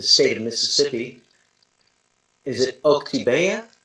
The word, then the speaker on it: Oktibbeha: Is it Oktibbeha? Oktibbeha. Yeah, I'm not going to pronounce it actually.